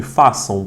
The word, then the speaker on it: façam: Repare que o U saiu da minha boca, não saiu? Então, aqui, quando eu pronuncio essa palavra, eu tenho assim, ó, são. É assim que você lê, tá?